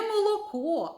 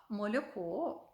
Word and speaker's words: молоко: а трішечки пом'якшений і моя матуся завжди казала Не молоко а мольоко не були а булі тому що вона була